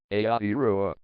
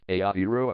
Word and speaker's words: Aotearoa: Aotearoa, pronounced A-T-A-A in Maori and slash A-T Ro slash